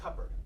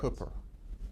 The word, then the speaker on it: Cooper: Phillips kept saying your name more like Cupper. And I don't know that I can you pronounce your name like it might have been pronounced in Nash County 30 years ago by family and friends? Cooper. Say it again? Cooper. Say foot. Foot? Cooper. Put the sound in between the C and the P.